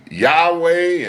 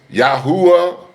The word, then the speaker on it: Yahweh: Some say his name is Yahweh, and the others say it's Yahuwah, Yahuwah, Yahuwah, and Yahweh. Ladies and gentlemen, I'm sticking with Yahweh. Ladies and gentlemen, I'm staying with Yahweh.